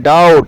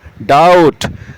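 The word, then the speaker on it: doubt: 10 पर आता है आपका बी इसमें भी साइलेंट है इसको बोलते हैं डाउट संदेह शक डाउट डाउट डाउट let's proceed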